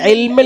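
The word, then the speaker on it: عِلْمَ: Love തഅലമൂന ഇൽമ എന്ന് പറയും. അത് കസ്റല്ല. അതേതാ? അതിന് ഇമാല എന്നാ പറയാ ഉച്ചാരണത്തിന്. എന്ന് പറഞ്ഞ ശബ്ദമല്ല വരേണ്ടത്. എന്താ വരേണ്ടത്? കസ്റ് വരണം. ഈ എന്ന ശബ്ദമാണ് വരേണ്ടത്. എന്ന് ചെരിഞ്ഞ ശബ്ദം വന്നാൽ അത് കസ്റാവുകയില്ല. കല്ലാ ലൗ തഅലമൂന ഇൽമൽ. ഇൽമൽ ഇൽമൽ ഇൽമൽ എന്ന് പറഞ്ഞാൽ ശരിയല്ല. ഇൽമലല്ല, ഇൽമൽ.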